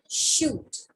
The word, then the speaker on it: chute: Now there is a new word which is written shoot.